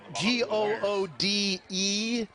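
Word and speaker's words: Goode: Matt Gingrich has that g-o-o-d-e is pronounced good good is the proper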